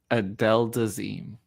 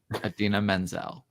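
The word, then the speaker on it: Idina Menzel: John Travolta still does not know how to pronounce her name. Adele Dazeem. Adina Menzel.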